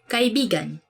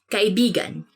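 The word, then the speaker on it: kaibigan: this word because like you have to say it like this kai bigan because means friend but when you twist it a bit uh and say it like this that's kind of it's not really a natural way of saying it but it actually means lover so like when you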